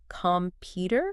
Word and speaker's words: computer: like syllable stress right like in computer the stress is on the second syllable computer computer exactly okay so